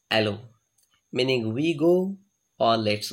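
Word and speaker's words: allons: repeating the word allows alan's french word pronounced as aloe meaning we go or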